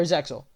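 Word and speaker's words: Zexal: uh quattro from uh zeel or zexo as it's pronounced right so of course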